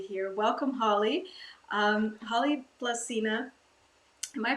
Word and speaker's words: Blazina: you are you are we say blizzina but blessina is good too in Spanish they say blasina and Croatian they say lazina well emphasized croatians it's